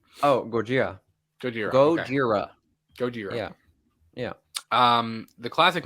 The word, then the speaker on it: Gojira: the the original name oh gorgia goodyear godzilla gojira yeah yeah um the classic monster movie widely